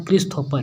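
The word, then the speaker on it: Christopher: लेकिन CH है start, ठीक है, चलेंगे, लेकिन हम लोग को यहाँ पर प्रोनाउंसिएशन क्या है? क्रिस्थोफर, यानी क्रिस्थोफर है, यानी कि के आ रहा है।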